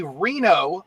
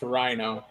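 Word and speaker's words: RINO: far right as a reno meaning this that's pronounced rhino sorry rhino i guarantee umb can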